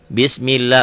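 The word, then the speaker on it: بِسْمِ اللهِ: bawah konsentrasi inih ya Kalau sebelum dapat Allah baris di bawah tipis bismillah lnya panjanganjang Iya panjang teh nama namanya apa tadi ada iklan asli loh nih bismillah mad asli ya Bismillahir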